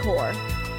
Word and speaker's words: Corps: The Blitzkrieg Corps. I forget that the P is silent in that.